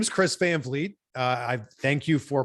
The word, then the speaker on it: Van Vliet: i love it but my name is chris fanfleet i thank you for pronouncing it correctly and i've worked my entire